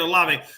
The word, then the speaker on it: Olave: Olive. One more, sir. Olave. Is it Olave? Okay, that's how you say it, Olave.